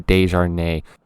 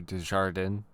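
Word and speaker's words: Desjardins: We have Dejou. Pause. I'm Um his name is Dejardan.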